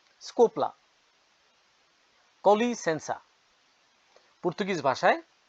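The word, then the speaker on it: com licença: বলবেন অব্রিগাদু অর্থ সেম ধন্যবাদ এক্সকিউজ মি স্কোপলা কলি সেন্সা পর্তুগিজ ভাষায় উচ্চারণ হয় কলি সেন্সা আপনি ট্রেনে আছেন ভিড়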